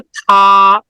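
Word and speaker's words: 他: তো চাইনিজে উচ্চারণের ডিফারেন্ট নাই, বাট লেখার ক্ষেত্রে ডিফারেন্ট আছে। মানে উচ্চারণের ক্ষেত্রে থা, বাট লেখায় ডিফারেন্ট।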